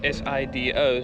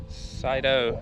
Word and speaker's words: Sido: a lot of people pronounce it differently you spell it with the s-i-d-o so cyto some people call it uh sido so the